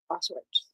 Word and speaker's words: Auschwitz: But today is the 80th anniversary of Auschwitz.